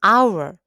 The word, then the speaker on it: hour: cream an umbrella an hour 여기 보시면 h 아아 h 자음이 h 무음이에요 소리가 안나요 그래서 실제 소리는 our